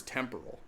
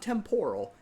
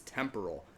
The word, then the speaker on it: temporal: The word's temporal. It's not temporal, it's temporal. Accent on the first syllable.